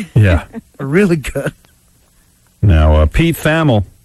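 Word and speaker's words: Thamel: Now, Pete Famel, T-H-A-M-E-L. I think that's how you say it. Pete Famel. Not Pete Hamill.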